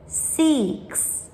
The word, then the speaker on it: six: Цифра 6, щоб правильно її вимовити англійською, згадаємо, як містер Язичок кликав котика на вулиці. Кс, кс, кс. Цим звуком завершується цифра, назва цифри, бо цифра називається «сікс». Six.